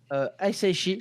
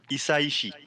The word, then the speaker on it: Hisaishi: il y a Joe Hisaishi, je pense que c'est dit comme ça. Hisaishi, je ne sais pas. Alors, en japonais, t'as tendance à tout prononcer, donc Isaishi. Hisaishi, ok.